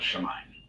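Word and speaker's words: שמים: Because we wind up crushing it together, it becomes Shemaim.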